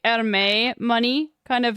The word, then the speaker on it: Hermès: Oh, you pronounce the S at the end. Good to know. Okay, it is French, so Hermès.